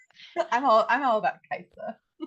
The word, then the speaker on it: Kai'Sa: I'm all I'm all about Kaisa.